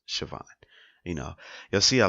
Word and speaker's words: Siobhan: Tiffany I always pronounce Siobhan I know it's felt kind of weird where I know it's spelled differently but it's pronounced Siobhan you know you'll see